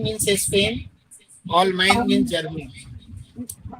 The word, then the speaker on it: Allemagne: Germany का spelling ALLEMAGNE, all mine, spine.